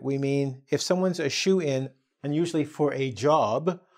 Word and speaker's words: shoo-in: And notice I said shoo-in. It looks like the word shoe here, but it's spelled differently, which might be a bit confusing.